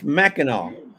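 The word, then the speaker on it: Mackinac: speaks with her hands I'm telling you it's Mackinaw I don't care if you spell It Mac no it's Mackinaw I thought that was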